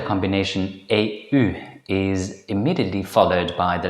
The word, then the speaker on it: eeuw: This is generally pronounced as a compound vowel, eeuw. It begins with the vowel a and ends in the vowel u, eeuw.